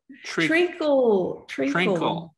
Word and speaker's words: treacle: Treacle. Spell it.